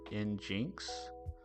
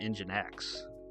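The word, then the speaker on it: nginx: Uh engine X isn't pronounced in Jinx. I have always called it engine X, but I could be saying it wrong.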